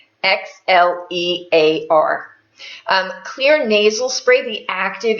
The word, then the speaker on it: Xlear: It's spelled with an X, Xlear.